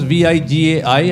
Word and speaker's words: Vijay: Vijay is pronounced as Vigai and not Jay. So be careful. He is Vijay with an I, right?